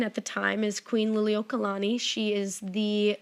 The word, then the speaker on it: Liliuokalani: um the queen at the time is queen liliuokalani she is the like nailed how to pronounce that good for you she is the